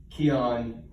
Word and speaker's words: Kion: But no, I know, but you're really not for 99% of those amino acid supplements, except Keon, which is spelled Kion, is founded and run by people who are well recognized in the health and wellness field.